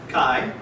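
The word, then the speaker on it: καί: So this is pronounced Kai, right? K-A-I, Kai.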